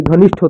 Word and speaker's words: घनिष्ठ: यह घनिष्ठ है। घिनिष्थ नहीं, वह गलत होगा।